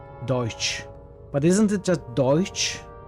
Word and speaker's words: Deutsch: I think at the end of Deutsch it's more like s ch not just ch n it's a voiceless frictive your first attempt was